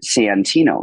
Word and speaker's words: Santino: would go on so now I've started like really like enunciating Santino so people like oh that's an a not a what the hell is